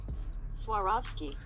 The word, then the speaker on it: Swarovski: Air Jordan one retro that I'm going to butcher the name so this is how you say it actually Swarovski Jordan 1 high is releasing in the summertime